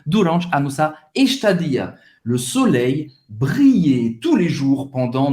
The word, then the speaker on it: soleil: Le soleil, soleil, o sol, le soleil, como se fosse um i longo, le soleil brillait, mais uma vez, como se fosse um i longo, briller, briller.